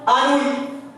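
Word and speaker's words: Anouilh: الأش ما تنطقوهاش. أنوي. ألو تقرا أنوي. هاد الأش سمع شي واحد نطق تقول لي راه خطأ ما تنطقش. صامت ما تنطقش حيت لا بليبار تنطقها.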